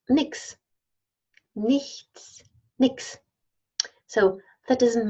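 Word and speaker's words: nichts: a new sound so leasts nothing is often pronounced Nix Nix Nix so that doesn't matter the smart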